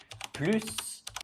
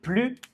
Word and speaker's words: plus: Exemple, il est plus grand que Jean. Grand est un adjectif qui commence par une consonne. Donc on ne prononce pas le S.